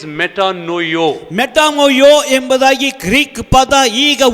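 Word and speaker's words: μετανοέω: The pronunciation of that Greek word is metanoio.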